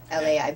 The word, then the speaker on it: Lei: Lai oh that's okay it sounds like Lai but anyway yes the